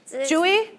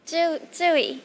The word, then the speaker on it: Tzuyu: Chewy? 야, How do you want me to say it? 어떻게 그 발음을 했으면 좋겠어요? Chewy? Tzuyu.